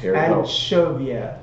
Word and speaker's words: Anchovia: Anchovia. Okay. Yes, it rhymes like Genovia.